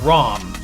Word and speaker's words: Ram: name is actually technically ram they call her rom because in the japanese version that's how you pronounce an a is the ah sound i don't know uh